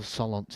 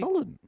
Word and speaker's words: Solent: Give me the posh pronunciation then. No, no. How How would you describe it? What was it? Solent. Solent. Port Solent. So Solent. Who? Port Solent.